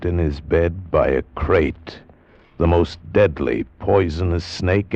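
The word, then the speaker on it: krait: Tonight we escape to India and the story of a man trapped in his bed by a crate.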